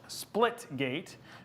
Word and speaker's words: Splitgate: So now, and so we're going to be playing uh split splitgate. Think of banana split. So the reason that he's correcting me is because I've literally said it wrong almost the whole night.